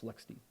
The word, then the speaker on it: LXD: would be Lex D which is lxd um but pronounce Lexy all right we've got